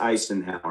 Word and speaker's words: Icenhower: When you're just saying it, it sounds the same, but it's actually pronounced Eisenhower instead of Eisenhower. Yeah. There's a C INSTEAD OF THE S.